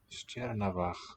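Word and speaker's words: Steòrnabhagh: So that E here in the first syllable of Stjernavach, the place name, tells us that the sh is going to be the palatal variety for both those sounds. Sh, not a st.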